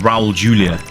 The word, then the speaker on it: Raul Julia: The Addams Family movie because that was with Raul Julia you know that's how you pronounce his name but yeah it's not that